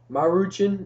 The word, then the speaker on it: Maruchan: our brand is uh maruchan ramen beef flavored noodles okay i know it rhymes with jackie chan but okay this is